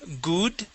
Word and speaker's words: good: the word good so instead of saying good with an oo sound we use an uh G good good excellent so let's